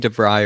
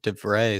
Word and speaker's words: de Vrij: vray which i just look up how to pronounce correctly this time i was saying devry earlier it actually is defray so all the dutch internationals maybe anybody that